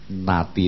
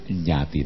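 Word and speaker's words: ñāti: Jadi misalnya idangwo nati nanghotu itu salah. Jadi yang betul idangwo nyati nanghotu. Kalau natinang jangan. Itu na menjadi nya, itu artinya terbalik gitu, ya.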